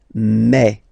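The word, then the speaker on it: mes: Okay, so for the phonetical or pronunciation aspect of it, then remember that this es here combined will give you the sound e. Okay, so you'll pronounce it like me, okay, te, so logical, same pronunciation here, te, se.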